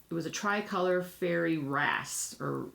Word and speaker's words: wrasse: was a tricolor fairy wrasse or yeah race wrasse it's spelled WR ASSE and it's a very shy